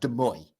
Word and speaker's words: Des Moines: So, this is in, I always pronounce this wrong, Des Moines. No, I pronounced it right.